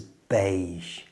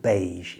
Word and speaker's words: beige: The pronunciation of beige is unusual because it comes from a French word and the at the end is a soft sound like the s in pleasure.